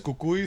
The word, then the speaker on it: Cucuy: see the movie and they hear the actors pronounce it as Cucuy so now they have